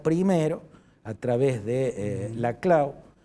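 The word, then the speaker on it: Laclau: Pero el kisnerismo primero a través de eh la clau, yo yo lo pronuncio así porque es un apellido catalán. Sí. Y eh siempre generan la tentación de pronunciarlo en francés.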